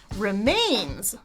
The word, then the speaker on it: remains: The second one should be stressed longer. Remains. He goes up in pitch. Mains.